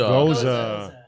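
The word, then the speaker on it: Gose: How do you say it? Is it goose or Goza. Goza. Got it. Goza.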